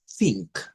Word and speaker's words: think: Esta es la así nada más think. Think suena como ta, pero es la la th sin vibración.